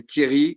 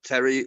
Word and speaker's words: Thierry: English people to say Thierry as it should be pronounced, like the famous football player Thierry Henry. And so people in England, my friends, my mates, used to say either Terry or Cherry or things like that, and it's not obvious.